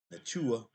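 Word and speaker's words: Nacua: Nua.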